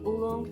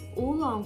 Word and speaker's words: oolong: By the way, speaking of tea, I don't know if you like oolong tea.